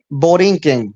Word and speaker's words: Borinquen: And it pronounced Borinquen? Borinquen, yes.